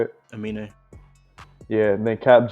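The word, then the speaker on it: Aminé: Amini, is that how you say it? Amine.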